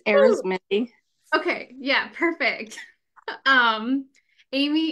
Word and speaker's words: Ari: your last name you did it right it's AR okay yeah perfect um Amy is an author